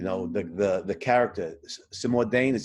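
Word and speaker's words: Cimourdain: personally love you know the the the character simuldane is how you pronounce his name um yeah the ex-priest he's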